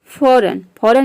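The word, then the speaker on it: foreign: एन आ रहा है, तो यहाँ पे जी साइलेंट रहता है। डिजाइन मीन्स होता है रचना। रिजाइन मीन्स होता है इस्तीफा देना। फॉरेन मीन्स होता है विदेशी।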